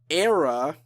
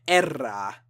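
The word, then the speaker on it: Erra: apparently, Veil of Maya, Era, or I'm sorry, I have to pronounce it the correct Hispanic way, Era, the Agony Scene, Allegion, not to be confused with Aegeon, Terror Universal, Surreption, and Entheos.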